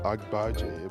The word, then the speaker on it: Agbaji: buggy it's like it's agbaji but it's like I bug you and sometimes I don't